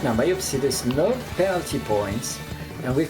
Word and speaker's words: Myopsidus: Is that how you pronounce it? Myopsidus? Yeah, Myopsidus.